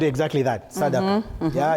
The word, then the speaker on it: sadaqah: And it's called exactly that, sadaqah. Yeah, it's just the pronunciation.